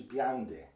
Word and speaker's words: Blondel: Le Cheminot is Chminat, and Blondel is Biande.